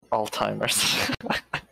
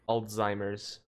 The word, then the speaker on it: Alzheimer's: t in it but i always pronounce the z like there's a t because it makes the word sound closer to what i think it sounds like alzheimer's it's alzheimer's no well